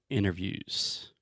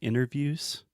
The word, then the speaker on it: interview: If you really want to sound American, this probably doesn't work for British English, but in general, when we say interviews, I do not pronounce the T.